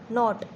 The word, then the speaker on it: knot: KNOT, नॉट।